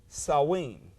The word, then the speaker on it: Samhain: in our in our letters but it is pronounced saw ween alright that's the that's what the name of